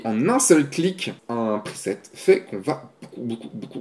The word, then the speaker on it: preset: dit ça j'ai rectifié je dis preset pr i s e de te même si ça s'écrit pas comme ça c'est comme ça que ça se prononce à quoi ça sert